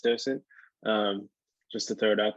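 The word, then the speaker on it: dDocent: And just for correction, the D is silent, the first D, so it's just docent, just to throw it out there.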